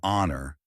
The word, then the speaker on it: honor: pronounced an air an honor an hour in these cases the H is silent so the words begin with vowel sounds and an is used